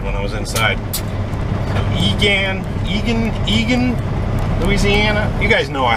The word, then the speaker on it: Egan: So Egan, Louisiana. You guys know I have a hard time with the pronunciation of these places.